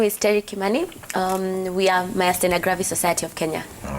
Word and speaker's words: Myasthenia Gravis: It's about Myasthenia Gravis.